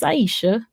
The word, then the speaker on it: Iseashia: Like, we don't say Island. My name is Iseashia.